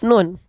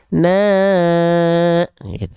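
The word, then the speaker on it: نون: ya atau misalnya huruf nun huruf nun itu ada di surah alqalam ayat pertama Nun walqami W yastun Nah kalau kita enggak tahu nama aslinya bisa jadi kita bacanya Nau ya oke itu iklannya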